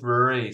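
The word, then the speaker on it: Ruadhri: The DH is silent. It's Irish, so I know it's Irish. So how would you pronounce it? It's pronounced Rory, so like Rory.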